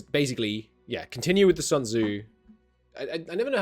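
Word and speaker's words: Sun Tzu: look this up we're learning here how to pronounce sunu wait for it the name of the Chinese military General yeah yeah philosopher sunu sunu okay cool um we will continue following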